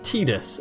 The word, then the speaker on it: Tidus: the main character as tidus as in t-e-e-d-u-s oh pre-emptive strike looking at the japanese spelling of his name that that is pretty much unquestionably how you would pronounce it in japanese well i mean